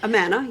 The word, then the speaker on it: Amana: It's all of the appliances in the house, I'm pretty sure are, and it's a brand called Amana. Okay. I think that's how you say it. Amana, yeah.